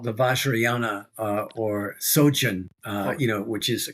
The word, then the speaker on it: Vajrayana: Well, yeah, it develops into tantric Buddhism called the Vajrayana or Sojun, which is a kind of tantric path in Tibetan Buddhism.